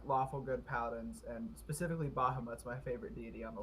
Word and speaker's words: Bahamut: Is it Bamahut? Cancel. Bamahut? Bahamut. Bahamut. Bahamut. Okay. That's like an Egyptian pronunciation or something.